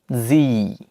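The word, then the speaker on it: Sie: এরপর সর্বশেষ ডিপথংটি হচ্ছে ই এ, ই এ, যার উচ্চারণ হচ্ছে ই এর মতো, দীর্ঘ ই এর মতো, যেমন জি, জি।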